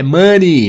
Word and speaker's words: money: Money, não é money, tá? É money, money.